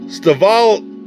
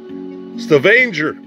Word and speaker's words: Stavanger: this is the uh staval uh how do you say that stavanger excuse me uh norway norway oh